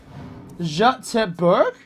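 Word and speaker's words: Göteborg: the only thing you need to know about gotenberg it's pronounced jacques berg and everyone is called glenn is that racist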